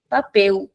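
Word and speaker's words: papel: like an यू प सो in European we से पे दे पपेल इन ब्राज़लियन वी से पेज जी पपेऊ वंस मोर पे द पपेल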